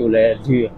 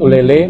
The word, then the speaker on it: Ulee Lheue: perbaikan Dengan ini kita perbaiki nama kampungnya menjadi uler seperti yang tertulis sesuai dengan ejaan yang benar tergelincir lidahnya karena licin tersebut Ulele mungkin karena familiar orang masyarakat juga secara umum